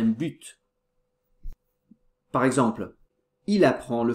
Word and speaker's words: but: un but but attention on doit prononcer le thé finale un but par exemple il apprend